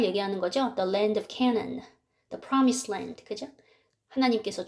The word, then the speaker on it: Canaan: the land of Canaan 가나안을 영어로 Canaan 이렇게 발음을 합니다.